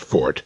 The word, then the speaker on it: forte: Incidentally, that's pronounced fort, neverforte, as the uninformed would have us believe. Forte is an Italian musical term.